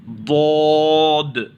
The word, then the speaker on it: ضاد: تلفظ نہیں آنا چاہیے۔ اس کا مخرج ہی الگ ہے، اس کا سٹائل ہی الگ ہے، اس کا تلفظ یعنی ادا کرنے کا طریقہ ہی الگ ہے۔ تو اسے تھوڑا دھیان سے مشق کیجئے، پریکٹس کیجئے، ریوائز کیجئے، ضاد، ضاد، ضاد۔ ضاد کے بعد کا